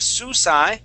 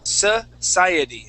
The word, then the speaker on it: society: society, Okay, so it's, instead of susai, it's society. Society.